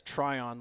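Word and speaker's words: Tryon: My last name is Trion. Like try on a shirt.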